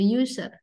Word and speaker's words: user: user ya ya ya kalau dimulai dengan Eh kalau suara yang muncul seperti y gitu ya seperti y gitu